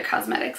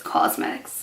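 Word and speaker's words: Causemetics: new brand thrive cosmetics I say it like that because it's ca us e mix so it's not like regular cosmetics it's cosmetics you know but yeah she's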